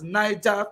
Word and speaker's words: Niger: They bought it as Niger Company. In the real pronunciation, you call it Niger Company.